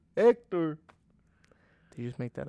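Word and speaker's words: Héctor: named Hector technically because you don't say the H Hector Hector did you just make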